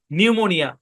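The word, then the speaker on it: pneumonia: এই শব্দের উচ্চারণ কি পিটা সাইলেন্ট এখানে ভাগ হবে নিউ মো নিউমোনিয়া এই শব্দের উচ্চারণ নিউমোনিয়া একটা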